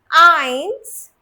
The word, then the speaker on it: eins: So one thing you have to remember, whenever EI is written together in a word, the pronunciation will always be of I, the English I.